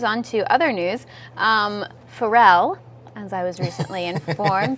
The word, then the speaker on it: Pharrell: well sad news on to other news um Pharrell as I was recently informed did I pronounce that right yeah okay good um he's